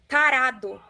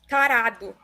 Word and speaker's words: tarado: Tarado. Parapo? Tarado.